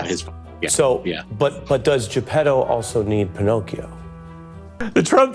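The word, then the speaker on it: Geppetto: it's sort of like Pinocchio needs is it japedo is that how it's pronounced yes jetto is his so but but does jepetto also need Pinocchio the Trump trial coverage this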